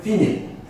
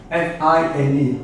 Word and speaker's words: fine: is written the word finit f-i-n-e is not pronounced fine in english it's in italian is written here and